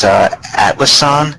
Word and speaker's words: Atlassian: This is Atlassian Corp, I believe it's pronounced.